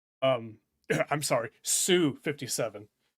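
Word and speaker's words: Su-57: Um I'm sorry, Sue 57. That is the correct way to say to say that uh prefix, but I I always incorrectly said it, SU.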